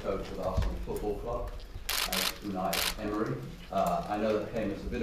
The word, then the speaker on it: Unai Emery: So for the benefit of Arsenal fans all over the world, what's the correct pronunciation of your name? Unai Emery.